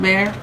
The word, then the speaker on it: Bexar: But it's spelled B-E-X-A-R, but it's pronounced Bear.